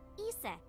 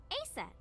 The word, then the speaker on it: Isis: But in ancient Egyptian, it's pronounced closer to Iset or Aset.